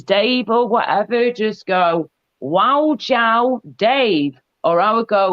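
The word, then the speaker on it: 我叫: And if you want to say, hello, my name is Dave or whatever, just go, wow, Jiao, Dave.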